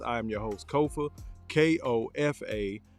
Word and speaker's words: Kofa: am your host Kofa k-o-f-a not coffee not Khufu not Kofi Kofa Kofa rhymes with sofa it's easy to say